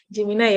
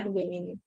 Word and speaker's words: Gemini: Kalau bacanya apa sih Pak Buku? Gemini ya, Gemini.